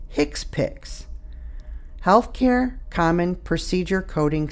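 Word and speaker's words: HCPCS: HC PCS level two which is pronounced hick piix healthc care common procedure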